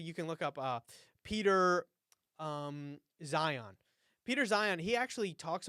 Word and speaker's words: Zeihan: Yeah, Zion is spelled Zeihan.